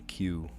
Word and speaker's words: queue: Word pronounced like its first letter which is followed by four vowels. Q. Q. U like to stand in line. to stand in a queue.